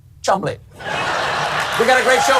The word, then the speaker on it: Cholmondeley: Oh, sorry, I'm being told it's actually pronounced Chumley.